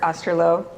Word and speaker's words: Osterloh: Osterloh, did I pronounce it right?